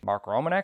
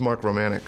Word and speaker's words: Romanek: today let's talk about Mark Romanek Mark romanc Mark romanic Mark romanic there are different ways to pronounce it and they're all right uh I hope turns